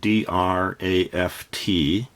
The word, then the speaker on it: draught: Now every time I hear draft I think D-R-A-F-T. That's what it sounds like, but every time it's written down, it is spelled D-R-A-U-G-H-T, but it's pronounced as draft horse.